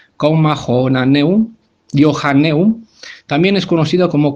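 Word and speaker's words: Comma Johanneum: La coma joánica, que en latín se llama así se pronuncia, coma jonaneum, Johanneum, también es conocido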